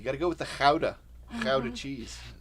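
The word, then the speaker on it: Gouda: a fine smoked Howa cheese you think it's guda it's not it's not pronounced guda not by the Dutch at least it's pronounced Kaa which I think is pretty amazing uh this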